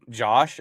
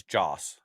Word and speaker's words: Joss: And it's not Josh, it's Joss.